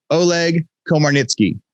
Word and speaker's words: Oleg Komarnytskyy: you guys are gonna be excited when i pronounce this name right so today i get to interview oleg komarnicki so oleg how how did i do did